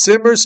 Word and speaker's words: Simmers: She says Simmers, Kentucky. It's pronounced S-I. How would you say that? Shmers? Shimmers? Scheibers? Scheibers? Like the word Like the word simmers.